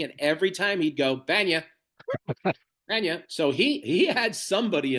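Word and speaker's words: Bania: B A N I A. Yeah. And uh so sometimes Jason or uh Jerry would pronounce it BA like you did that once.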